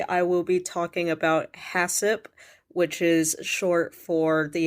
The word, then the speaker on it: HACCP: let's start with what hassip is so also let me just clear up right now hasip is HACCP but I'm pronouncing it hassip um hassup is basically